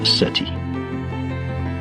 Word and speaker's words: SETI: This quest is called the Search for Extraterrestrial Intelligence, SETI, pronounced SETI.